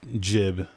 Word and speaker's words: gib: I prefer saying gib, but I know it is jib.